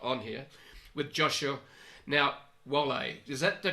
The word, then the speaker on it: Wohle: Now, Wohle, is that the correct pronunciation, Joshua, or not? Almost. Wohle.